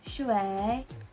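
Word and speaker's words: 水: So the Mandarin term for water is shui, shui, shui. So as you can see, it has the third tone. So we're gonna sound like our throat is going downwards. So it's gonna sound shui, shui, shui.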